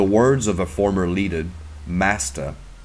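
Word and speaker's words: мастер: In the words of a former leader, Master, a Russian word both pronounced and meaning master, but it's spelled M-A-C-T-E-P.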